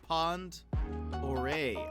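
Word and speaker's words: Pend Oreille: It's actually pronounced Pond Oreille.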